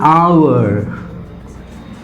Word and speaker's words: hour: Now, example, an hour, an honorable man. Now look at this. When I say hour, I am not pronouncing this H. It is silent.